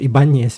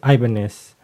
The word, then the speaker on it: Ibanez: Then the Ibanez, we call it Ibanez before, but it's Ibanez. When I was back home in the Philippines, there's a surname like that, but it's a Ibanez.